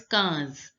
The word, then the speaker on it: quinze: 14, 15 is pronounced as quinze. Quinze. The IN sound is pronounced as a. A. It is the nasal sound.